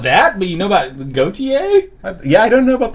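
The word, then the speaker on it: Gotye: Yeah, Gautier. I thought it was Goatsy.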